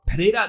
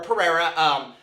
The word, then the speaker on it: Pereira: As of posting this video, Pereira nor his representation have responded to these allegations.